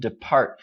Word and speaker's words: depart: So chỉ có được phát âm là okay, ngoại trừ depart. All right, so in British English, this would be depart, okay, or storm or something. Very, very light You don't hear the R, but in American English, it's there.